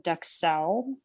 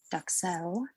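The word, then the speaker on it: duxelles: Then you're making something called a mushroom duxelle, which what? Duck? Cell? It's mushroom duxelle. Duxelle. I think it's a French something or other. Sorry, it's not duck quack. It's duxelle.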